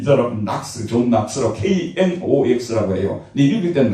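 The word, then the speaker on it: John Knox: 이건 그 락스고 이 사람은 낙스, 존 낙스라고 KNOX라고 해요. 근데 읽을 때는 낙스로 읽어요. 존 낙스라고. 혹은 영국 본토 발음은 존 녹스. 그 사람들은 오로 발음한다.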